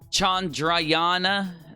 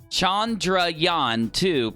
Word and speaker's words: Chandrayaan-2: here alright India since Chandra Yana I said it wrong chandrayaan-2 probe toward South Pole